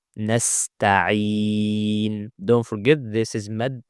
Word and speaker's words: نستعين: Clear ayn with a kasra. Nasta'i. عي. Don't make it ha or hamza. Don't say nasta'in. It's عي. نستعين.